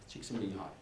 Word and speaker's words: Csikszentmihalyi: And it's a very, I don't pronounce the name because, can you say it loud? Csikszentmihalyi.